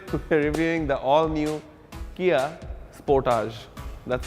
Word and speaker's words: Sportage: you and today to reviewing the all-new Kia Sportage that's how it's pronounced Porter's not very opposed to what he